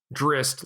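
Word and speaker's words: Drizzt: this name at you drist like with an s instead of the two z's and i'm not even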